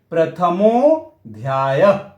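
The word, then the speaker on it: प्रथमोऽध्यायः: हम लोग क्या बोलेंगे, प्रथमो ध्यायः। इस मो को थोड़ा सा हम लोग खींच लेंगे, प्रथमो ध्यायः।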